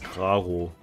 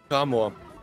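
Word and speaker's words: Krarmor: Wie heißt das Pokémon nochmal richtig ausgesprochen? Also ich nenne es Graro. Kramor. Kramor, okay.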